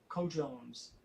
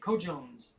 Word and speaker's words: cojones: so co jones cojones i was pronouncing it code jones i even asked myself what cajones meant and thought co-jones still sounded cool yeah check it out google it cojones that's what it is it means what you